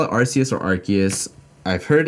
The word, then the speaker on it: Arceus: Do you guys call it Arceus or Arceus? I've heard it's actually pronounced Arceus, but can't bring myself to pronounce it that way.